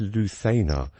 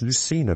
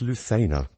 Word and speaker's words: Lucena: RZ the Lua and so it should be pronounced Lua but um in England a lot of the time it's pronounced Lucina position so um those of you who've heard